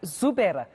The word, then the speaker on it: Xubera: analyst Xolani Dube from Xubera Institute for Research and Development. I hope I'm pronouncing that correctly. Good morning. Is that Xubera? Morning. Yes, you are pronouncing it correct.